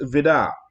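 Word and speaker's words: Vide: And so it was signed by Hans Vidar, and that's how you pronounce it. It's spelled V-I-D-E, but it's Hans Vidar.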